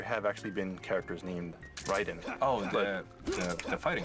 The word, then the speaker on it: Raiden: beginning there's voice acting so they know it's Ryden MH but most people when they see Ryden written they think it's Raiden Raiden and so like in other games there have actually been characters named Ryden oh the the the fighting game right like